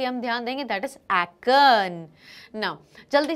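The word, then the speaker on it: Aachen: एक्न, A-A-C-H-E-N. इट is pronounced as एक्न.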